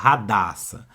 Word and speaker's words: Hadassa: nos filhos por exemplo Hadassa aí começa com h não é verdade aí esse H tem som de R né Radassa então cuidado com